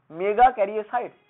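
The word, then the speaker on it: মেগাক্যারিওসাইট: The name of the sell মেগা ক্যারিওসাইটস, সেলের নামটা হচ্ছে কি, কেটে কেটে উচ্চারণ করবি, মেগা ক্যারিওসাইটস।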